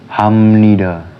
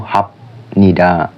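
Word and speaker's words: 합니다: yang kedua itu gongbu Hamnida tulisannya kan gombu gongbu hapnida tapi bukan dibacanya itu gongbu hapnid tapi gongbu hamnid karena BAP ketemu Nien jadi miem yang gongb Hamnida itu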